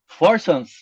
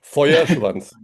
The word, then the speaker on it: Feuerschwanz: Uh it's a Forschwanz. Uh close, very close. It's Feuerschwanz. Feuerschwanz.